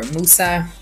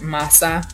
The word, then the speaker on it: Mose: had fort both say pronounced most a rise with Jose built and established as a free black settlement the first to be legally sanctioned in what would become the territory of the United States the fort has also been known as for Moosa afford massa variants of the Spanish pronunciation so I'm gonna keep